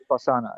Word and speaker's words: Vipassana: Well, I realized you've mentioned Vipassana, if I'm saying that, if I'm pronouncing that correctly, a type of meditation. Vipassana, yes.